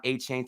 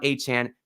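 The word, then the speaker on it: Achane: and I look for Devon A-Chain or A-Chan. He actually said it's pronounced. I look for Devon A-Chan to smash that if y'all want some free money.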